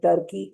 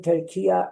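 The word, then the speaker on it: Türkiye: In these days, saying Turkey is a wrong pronunciation. Saying Turkiya is the right pronunciation.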